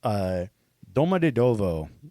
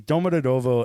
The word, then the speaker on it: Domodedovo: Now in 2011, Moscow's Domodedovo, I think is how it's said. But sounds it's right. Russian, so it probably sounds more angry. The Domodedovo airport was attacked by two suicide bombers.